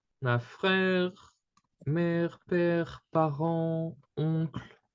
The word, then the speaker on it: oncle: Oncle, Oncle. Yeah. Okay. The final E here isn't pronounced.